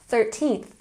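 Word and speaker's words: thirteenth: more time 12th good 13th don't forget your emphasis on the second syllable 13th 14th 15th 16th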